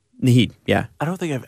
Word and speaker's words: Naheed: Now, is that how you pronounce his first name? Naheed, yeah.